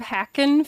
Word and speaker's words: Harkin: oppel hi representative Harkin no did I pronounce that correct no my last name is representative hacken it's like um a computer hack or a tree hack in any CL thanks